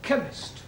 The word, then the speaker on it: chemist: spell chemist. Oh, blimey. K-E-M. Chemist does not begin with a K. It sounds like it begins with K, C-H.